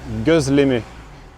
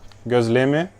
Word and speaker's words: gözleme: En fait, j'ai pris des gözleme. Le O tréma se prononce E, un peu comme œuf en français.